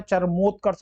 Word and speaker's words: चरमोत्कर्ष: यह गलत ही है चर्मे कर्ष नहीं होता चरमोत्कर्ष होता है यहां पर ओ होगा ओ की मात्रा चरमोत्कर्ष सतगुरु सतगुरु यह